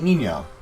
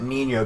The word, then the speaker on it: Nino: This is where we meet Nino. Or Nino. I don't know how it's pronounced. I pronounce it Nino because of the Spanish pronunciation.